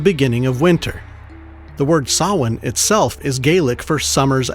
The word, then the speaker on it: Samhain: It's spelled S-A-M-H-A-I-N. Samhain. Super phonetic.